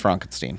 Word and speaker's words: Frankenstein: It's pronounced Frankenstein, first of all.